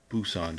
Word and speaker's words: Busan: and uh John will critique how I said Busan just then it's technically you say BNP in the same syllable s on how was that John anyway